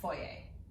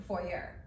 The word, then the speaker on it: foyer: my Christmas tree in my foyer or foyer depending on where you come from it depends on how you say it anyway so this tree